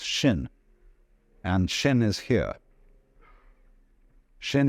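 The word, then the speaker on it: 心: In Chinese, mind is this word pronounced shin, and shin is here.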